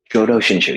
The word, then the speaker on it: Jōdo Shinshū: Jōdo Shinshū, yeah, Pure Land.